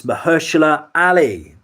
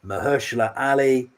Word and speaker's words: Mahershala Ali: Got to pronounce this right. It's Mahershala Ali. Mahershala Ali, answer number five.